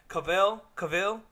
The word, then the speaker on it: Cavill: They showed the costumes, and Henry, I can never pronounce Cavizel. His last name. Cavill?